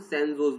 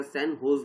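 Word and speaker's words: San José: तो ये है कि वो जिस कॉलेज से पढ़े थे, मतलब सैन जोस बोलते हैं या सैन होज बोलते हैं, सैन होज इस तरीके से प्रोनाउंसिएशन करते हैं, वो उस कॉलेज से पढ़े थे, फॉर्मर स्टूडेंट थे उधर पर।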